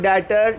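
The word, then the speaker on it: debtor: इसमें बच्चों बी जो है ये साइलेंट होगा, आपने इसको पढ़ना है डेटर्स। क्लियर बच्चों? ये बी जो है ये लिखा जाएगा लेकिन इसको हम पढ़ेंगे नहीं, ये साइलेंट है, इसको हम पढ़ेंगे डेटर या इसको हम अकाउंट रिसीवेबल भी कहते हैं।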